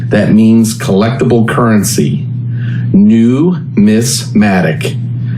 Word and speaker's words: numismatic: Numismatic. Just like it reads, numismatic. It's a word you need to practice because if you don't get it correct, your knowledge might be brought into question or discounted. Numismatic is from Greece and